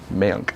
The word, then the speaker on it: Mayank: I was trying to say, did I say it right? Mayank. Yes, okay.